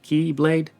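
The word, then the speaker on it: χ-blade: You see, it's like an X blade, but the X is pronounced key, so it becomes keyblade.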